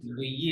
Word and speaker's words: bouillir: To এই fry boiling on grand বুইয়ে, casserole হ্যাঁ bouillir বুইয়ে, bouillir হুম, bouillir to boil নাকি বুইয়ে মানে বয়েল, ঠিক to bouillir bouillir না, double L uh, silent, double silent, বুইয়ে, bouillir bouillir হুম, uh,